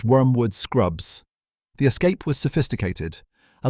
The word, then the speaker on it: Wormwood Scrubs: Wormwood Scrubbs is pronounced Wormwood Scrubs.